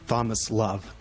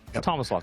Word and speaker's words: Tomislav: And yeah, my name is basically, you can pronounce it as Thomas Love. Okay. Kind of, yeah. Thomas Love.